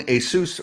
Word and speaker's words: ASUS: to call him Asus I used to be ASUS ASUS ASUS but it's a Korean brand and I finally heard a Kore Korean person pronounce it and they said Asus because it's a it's the way it just translates yeah so yeah I totally